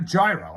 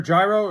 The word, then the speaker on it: gyro: What was in your gyro? It was just gyro meat, lettuce, onions, and yogurt sauce. The G is silent.